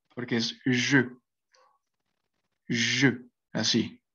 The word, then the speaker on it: je: Porque es que, como les comentaba, el pronombre je, por ejemplo, se pronuncia con esta E, con una E cerrada, porque es je, así, je.